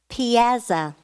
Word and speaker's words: piazza: ar e lv a and T relevant correct Piazza may I have the definition an open square